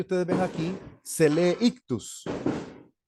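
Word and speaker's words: ἰχθύς: ictus esto que ustedes Ven aquí se lee ictus y aquí yo puse ictus directamente pero me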